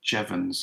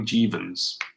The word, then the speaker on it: Jevons: that's me also yes my surname is pronounced Jevons a lot of people call me jeevan's Jevons from heavens okay